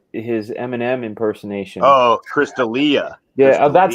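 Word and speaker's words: D'Elia: Delia was uh his Eminem impersonation oh Chris Delia yeah that's how you say it okay I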